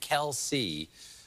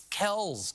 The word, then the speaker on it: Kelce: See, we've all been saying Kelce when it's actually pronounced Chalamet. I am joshing, of course. According to a discussion on Inside the NFL, the correct pronunciation is Travis Kelce.